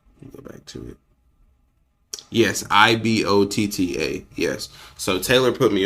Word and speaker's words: Ibotta: I think it's pronounced Ibotta. So Ibotta. Is that what it was? Yes. Let me see. Go back to it. Yes, Ibotta.